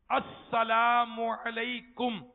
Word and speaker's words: السلام علیکم: سلام اور جواب سلام کا درست تلفظ بھی ہمیں ادا کرنا چاہیے. آئیے میں کہتا ہوں، آپ پیچھے دہرا لیجئے. السلام علیکم.